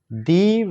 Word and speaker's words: the: প্রথমটি হলো vowel AEIOU এর পূর্বে দি উচ্চারণ করতে হবে।